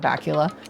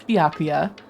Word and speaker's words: Byakuya: What the Oh, B mispronouncing Baku. Byakuya. Oh god, now I'm going to start saying Bula. It's It's Byakuya.